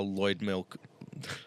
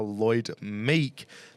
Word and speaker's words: Lloyd Meek: drops off unfortunately how Lloyd milk Lloyd milk that's the best that's the best mispronunciation I've ever heard Lloyd milk and it's going to be interesting to see how Lloyd Meek ands Ned Reeves battle